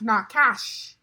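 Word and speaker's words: נחש: It's pronounced nakash.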